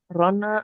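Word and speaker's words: Rhône: Kalau Ah, dia setelah N itu ada huruf E kayak gini Seina, Garona, Rona. Nah, itu bacanya N-nya kebaca N, dia nggak kebaca sengal.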